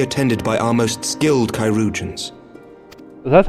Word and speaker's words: Chirurgeons: She will be attended by our most skilled Chirurgeons.